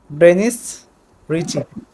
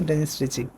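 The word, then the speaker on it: Dennis Ritchie: আচ্ছা আর এটা কে কে তৈরি করে সি প্রোগ্রামিং আবিষ্কার করে হচ্ছে ড্রেনিস রিচি রিচি হ্যা মানে রিচি না রিচি আর কি উচ্চারণটা হচ্ছে ডেনিস রিচি আচ্ছা তো একটা মানে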